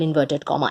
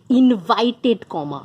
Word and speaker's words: inverted comma: always have those double inverted comma and about those commas they are not double invited comma no that is often mispronounced it is double inverted comma the commas look something